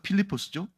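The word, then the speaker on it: Φίλιππος: 빌립은 헬라어로 필리포스라는 이름이에요. 필리포스라는 이름을 우리말로 그냥 빌립이라고 쓴 겁니다. 근데 원래 제대로 된 발음은 필리포스죠.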